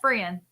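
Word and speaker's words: F'ryan: The guy that, yes, Frian. Okay, the T is silent.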